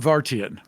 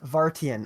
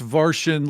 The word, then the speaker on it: Vartian: So Vartian. Vartian. Okay. My apologies. Everyone looks at it and thinks Vartian like Martian with a V.